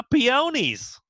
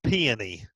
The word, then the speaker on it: peony: Now, peonies is how you say it from the South. Now, Martha Stewart says peony. So it depends on who you are, on how you're going to say it.